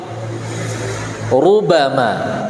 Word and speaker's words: ربما: Ru beda ru tipis sama ru tebal.